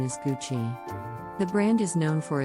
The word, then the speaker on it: Gucci: Gucci this Italian luxury fashion brand is often mispronounced as gucky but the correct pronunciation is Gucci the brand is known for its iconic GG